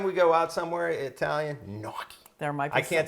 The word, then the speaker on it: gnocchi: go out somewhere Italian noi I can't say it like you do how you say it noii yeah GN in Italian like lasagna lasagna I like it and